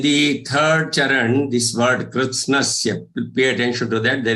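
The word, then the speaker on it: कृत्स्नस्य: So pronunciation should be krit. You will say krit as if there is half the is joined with kr. Krit, and then you say sna. Krit, sna, and then sya. So krit, snasya, krit, snasya, krit, snasya. That's how it should be pronounced.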